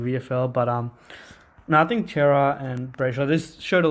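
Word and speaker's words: Cerra: So you think Adam Serra? It's Adam Chera, I think, even though it's spelt Sarah.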